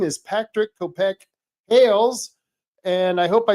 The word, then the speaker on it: Kopke-Hales: Uh, it it's pronounced Copkey like a cop and a key. Ah, Copkey Hails. Patrick Copkey Hails.